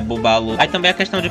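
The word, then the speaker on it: Bubbaloo: Ou o chiclete Babalu, que na verdade a pronúncia é Bubalu.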